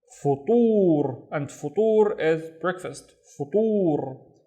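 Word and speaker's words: فطور: Let's read the first syllable, fu, fu. And then we have the ta with the dhamma, so tu, tur, futur, and futur is breakfast, futur.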